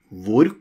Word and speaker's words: hvor: Hvor kommer du fra? Where come you from? Hvor kommer du fra? Notice, hvor, we don't pronounce the H sound in hvor.